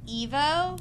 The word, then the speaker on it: Evo: there that looks delicious it's Evo rhymes with dvo like the band it's positive energy and